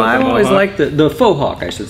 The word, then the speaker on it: faux hawk: liked the faux hawk, I should say.